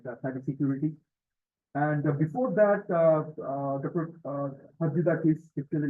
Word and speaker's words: Chatzidakis: And the trick here is like C silent. It's Chatzidakis.